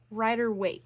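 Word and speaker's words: Rider-Waite: in the traditional um the I'm going to mispronounce this the rer weight rer right hang on give me a second Rider weight yes okay I was right on the original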